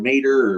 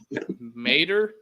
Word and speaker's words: Mateer: I think it's Mater. Mater, like the truck from Cars.